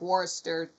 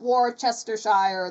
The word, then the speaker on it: Worcestershire: You don't say it all like Worcestershire sauce. It's not Worcestershire the way it's spelled.